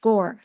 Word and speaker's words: Gaur: And by the way, his last name, Gaur, is more like Om, right? OM. So it's actually in Indian pronounced Gore.